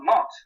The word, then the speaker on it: mot: So when you get eton, and you go backwards, you've got mot. That's the French word for word. Bon mot. You don't pronounce the final T.